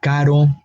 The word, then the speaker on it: caro: If we have one R, caro, we have a different sound.